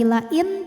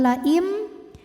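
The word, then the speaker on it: لئن: Karena ada nun sukun menghadapi huruf ba, maka bunyi nunnya diganti jadi bunyi mim sukun. Jadi bukan lagi lain, tapi laim disertai dengan bunyi dengungan.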